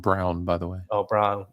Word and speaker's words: Braun: I think he wants to be called Brown, by the way. Oh, Brown. Okay. Christian Brown. No, I know it's spelled Braun. Bra. Yeah, gotcha. Christian Brown. It is.